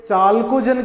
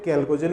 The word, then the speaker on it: chalcogen: कैल्कोजन कई जगह आपको ये चाल्कोजन के नाम से भी मिलेगा, तो स्पेलिंग देखिएगा, ये चाल्कोजन बोलो चाहे कैल्कोजन बोलो, ये तत्व समूह 16 से संबंधित ही हैं।